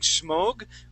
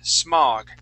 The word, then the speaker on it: smog: Now that last word, instead of saying smog, we would use an ah sound, smog.